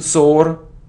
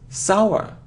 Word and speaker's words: sour: it The Sound e believe believe it isn't sore or sore it's sour sour sour sour it isn't Castle no we don't pronounce it it's Castle okay so you see